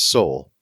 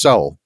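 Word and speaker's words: sál: s-a-l and the l the a has a little accent mark over it so it's pronounced soul soul and it the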